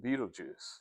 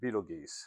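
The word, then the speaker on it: Betelgeuse: the 100 inch and they measure beetlejuice or be beetle geese however you want to pronounce it. I've heard that both is appropriate but your mileage may vary.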